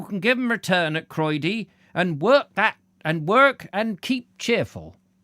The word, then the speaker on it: Croyde: Croyde rhymes with hemorrhoid, says Ben Reeve.